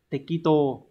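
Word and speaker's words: 適当: thích và chữ đương từ này đọc là te Kito như vậy chúng ta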